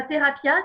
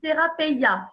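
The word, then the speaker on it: θεραπεία: C'est pas thérapia, c'est thérapeia. Donc, je fais attention à bien le prononcer.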